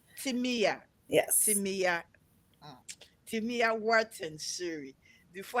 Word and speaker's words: Timea: I am talking about our beautiful Timaya Wharton-Suri. Did I get the pronunciation correctly? Close, Timea. Timia, Yes.